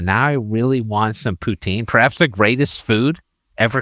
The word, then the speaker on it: poutine: And just if you want to be an authentic Canadian or actually Quebecer, which is where poutine is from, it's pronounced poutine.